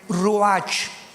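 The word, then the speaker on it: ruach: Biblia la palabra espíritu que es la palabra se escribe ru r u a c h ru que es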